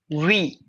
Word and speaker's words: oui: her it's not wait it's not being you pronounces at oui it's not we it's wrong it's we how we english what are we all right now we